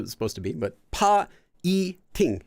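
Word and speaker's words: 파이팅: Check your spelling for piting, but I mean, I know that's what it was supposed to be, but pa-i-ting. So it would be 3 separate syllables for that.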